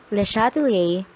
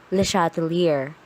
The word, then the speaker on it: Le Chatelier: or the equilibrium law this is how to pronounce the shuttle a layer shut Li a the shuttle a but if you can pronounce it in that way feel free to use the shuttle here for now but please remember that it is really the shuttle a and not the shot here this principle states that